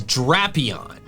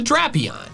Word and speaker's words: Drapion: Bulbapedia says the first part of its name could come from dragon, drastic, or Dracula, all of which have the short A and thus align with the pronunciation drapion.